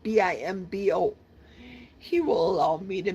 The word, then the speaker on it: Bimbo: I think it's pronounced Bimbo, but it's spelled Bimbo.